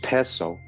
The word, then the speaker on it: Piso: New Testament, the church and Christianity were all the creation of the Kalperno pisel pronounced peso family who were Roman aristocrats.